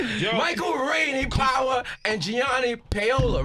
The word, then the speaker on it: Gianni Paolo: this Michael Rainey power and Gianni Paola right did I say it right yeah let's